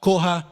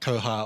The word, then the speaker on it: koha: five minutes so that you can pronounce koha koha not koha or all sorts of other things so is the indigenous